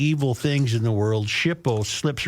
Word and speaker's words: SHPO: State Historic Preservation Office or SHPO pronounced Shipo in government acronym alphabet soup lingo.